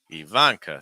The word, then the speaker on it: Ivanka: Start with the E, then Van, then K. Ivanka. Stress that second syllable.